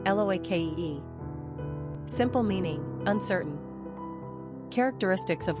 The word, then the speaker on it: Loki: Pronunciation, Loake.